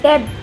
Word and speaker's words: debt: Debt. It's debt. D is silent here.